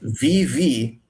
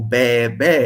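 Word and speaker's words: βῆ: I mean, this doesn't make sense because sheep do not go VV, they go be, which is actually the pronunciation of Vita, Ita, and Beta, Eta, a circumflex, be.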